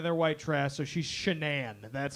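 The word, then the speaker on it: Shanann: it's North Carolina they're white trash so she's shenan that's how you pronounce I got my wife shanan shanan Watts big booty Tonka so they met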